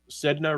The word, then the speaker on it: Sedna: swings back and around sedna rhymes with Edna it does 11,000 years